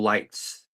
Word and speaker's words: Leitz: but anyway, here's Leitz, everybody. Leitz. Actually, that's Leitz, as Oh, in the light above.